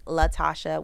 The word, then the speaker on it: Latashá: all socials at Call Me Latashá, and then Spotify is Latashá with an accent on the A, the last A.